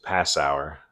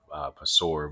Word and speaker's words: Passauer: botch his name again, Passauer, I think is how you say it. I want to say Pasor, but Passauer. He's the head coach at